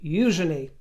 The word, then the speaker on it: Eugenie: dwell on it, but her name is Princess Eujenei. That is how she says it, how her mother and father say it, how the late queen pronounced it. Even the stress on the first syllable, they don't make a